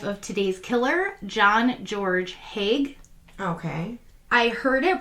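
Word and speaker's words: Haigh: was like you know i'm just going to go with haig i was going to say i could say i could see the say let's see the hay because the gh like through like with the gh yes yes exactly silent but yeah yeah so i'm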